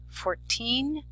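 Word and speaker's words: fourteen: versus 40 listen carefully 14 40 it's important to place the emphasis on the correct syllable next for spelling from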